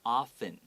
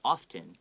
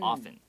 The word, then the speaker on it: often: clean and pretty you don't need to pronounce it so it's often okay it's like o-f-f-e-n but if you say often that's okay as well okay just the more natural way of pronouncing it is often and here we see beauty soup why is